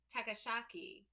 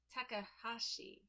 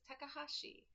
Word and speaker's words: Takahashi: Chibinkino Kitchen by Yuta Takashaki. I might have pronounced that wrong. I apologize. Takahashi. I think that's how it is. Takahashi.